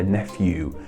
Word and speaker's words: nephew: Siddharth S said, nephew also used to be traditionally pronounced with a V sound, but usually is said with an F sound now.